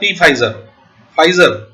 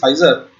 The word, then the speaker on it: Pfizer: इसके बाद पी फाइजर, नॉट पी फाइजर means पी is silent, it इज फाइजर।